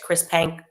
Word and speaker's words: Chris Penk: Minister, it's Chris Penk. Okay, perfect. Chris Penk basically said, we're reversing this ban.